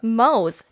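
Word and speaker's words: Mohs: hardness hardness test yeah Mo's that's m o s there is no R you said Moors it's Mo's MO is m o e the H is silent yeah where do you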